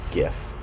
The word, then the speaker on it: GIF: In my alphabet, G's always gonna make the g sound. So for example, this infamous word is always gonna be pronounced gif, never jif.